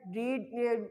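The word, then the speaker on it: read: I have रेड, रीड spelling वही है, रेड पढ़ते हैं, I have रेड a book, मैं किताब पढ़ चुका हूँ।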